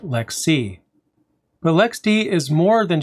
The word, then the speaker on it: LXC: lxc for short and just like lex d lxc is pronounced lex c the lxd is more